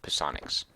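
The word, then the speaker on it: psionics: stuff and these resistances to ponics this is how you pronounce that word ponics as I learned in junior high playing D and D um we don't have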